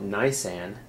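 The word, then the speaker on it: ניסן: ironically or not ironically in Hebrew the word Nissan or as they pronounce it nysan refers to Spring the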